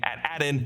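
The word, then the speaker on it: Attin: lot of Secrets actually its name at addin we pretty sure is an odd to the alternate pronunciation of at-ats or imperial Walkers also known as at ATS and I just kind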